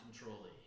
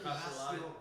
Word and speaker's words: Controllata: I can never pronounce Italian. Denominazione di Origine Controlli. Denominazione di Origine Origine Controllata.